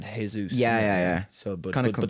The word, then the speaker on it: Jesus: yeah, Jesus it is actually. Jesus, sorry. Because if you're Brazilian, I think Brazilian people don't pronounce the J like Jesus.